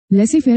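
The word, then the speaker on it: laissez-faire: Less fair is a French term.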